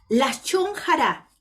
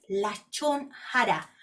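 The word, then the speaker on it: lashon hara: Lashon Hará significa en hebreo lengua perversa.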